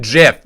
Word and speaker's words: GIF: it i'm not even gonna say it i pronounce it jiff okay it's jif and the reason that it's